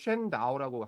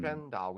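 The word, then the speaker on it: 神道: 그 한자인데 중국 사람들은 이제 쉔다오라고 하죠. 음, 쉔다오.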